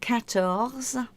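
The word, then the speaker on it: quatorze: French as I've said they say tears for 13 and 14 is cattles and 15 is cows and 16 is says but to put them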